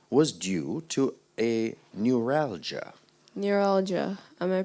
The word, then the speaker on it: neuralgia: that his headache was due to a neuralgia neuralgia am I pronouncing the word correctly when I say neuralgia sounds good to me neuralgia n e u